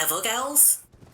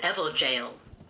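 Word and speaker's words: Evergaol: i ever mentioned this i've been calling these evil girls it's pronounced jail it's an evil jail it's like an it's a prison it's some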